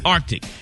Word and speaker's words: Arctic: have to pronounce the C in Arctic. Yeah. It's Arctic.